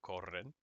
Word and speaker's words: corren: Little hints and tips as to how these things are pronounced, like two R's go r, perro, corren.